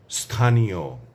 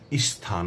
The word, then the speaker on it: স্থান: যেমন ধরুন স্থান স্থানীয় স্থানান্তর এ শব্দগুলোর উচ্চারণে অনেককে দেখা যায় তারা স্থান বলেন স্থানীয় স্থানান্তর এমন করে উচ্চারণ করেন। এগুলো ভুল। এগুলো করা চলবে না। আমরা বলব স্থান স্থানীয় স্থানান্তর স্তর স্তব্ধ স্তীমিত স্তম্ভিত